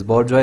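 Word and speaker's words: bourgeois: Characteristic of middle edges, बोर्जवा इसका pronunciation होता है।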